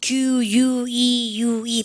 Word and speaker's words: queue: 이거 Q입니다. Q-U-E-U-E 발음이니까 Q.